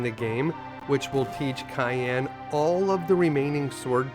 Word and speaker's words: Cyan: As a kid, I always pronounced this guy's name as Cyan. But after seeing the original Japanese version where they actually spell it out, I'm quite confident that the developers intended his name to be pronounced Cayenne instead.